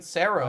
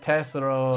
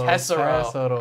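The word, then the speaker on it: Gild Tesoro: Tessero. Tessero. I thought it was like the E was silent. It was like Cero.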